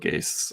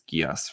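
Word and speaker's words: Geass: I always thought it looks like it should be pronounced like code Gase or something, but I think just according to the Japanese, it's Gias, right?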